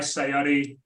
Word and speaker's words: Sayari: always lead with that the way to remember it is that it's not my rash it's not your rash it's all rash and I'm a head